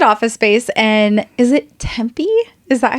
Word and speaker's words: Tempe: She rented office space in, is it Tempe?